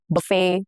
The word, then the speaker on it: buffet: Examples are ballet, buffet, crochet, all have the T's that are silent, okay?